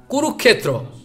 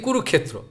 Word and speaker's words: Kurukshetra: NASA, they research, they find Sanskrit pronunciation like, you know, Kurukshetra. If I speak this way, I am speaking wrong. Those Bengali people, they are speaking Kurukshetra. But those are Sanskrit knowing a Kurukshetra.